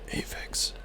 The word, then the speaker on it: Aeuv: This is how you say my name, Avex." And I realized that no one, if I just say Avex, no one can just know that.